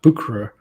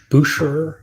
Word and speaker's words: Bucherer: He did say he went to Bucherer or Mm-hmm. Boucherer, I guess is how they pronounce it. Yeah. I refuse to say Boucherer. And yeah, Bucherer.